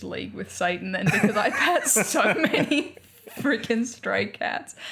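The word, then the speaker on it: Ypres: yeah well in belgium there is a town called ipa which is spelled y p r e s okay so i was like yepres um so they have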